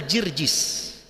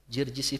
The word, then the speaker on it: Jirjis: julukan nama aslinya adalah jirjis jarjis itu pelafalan orang arab terhadap nama George nawar segitu George George